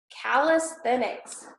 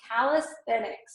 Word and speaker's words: calisthenics: Calisthenics. Calisthenics.